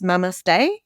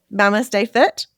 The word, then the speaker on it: MamasteFit: So, is the way that you say this Mamaste? Yeah. MamasteFit?